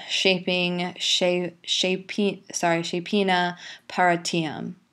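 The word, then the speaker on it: Scefing: lit alliterative verse okay so how you would pronounce that first line oft Shield shaping shap shap sorry shapen partium so that's off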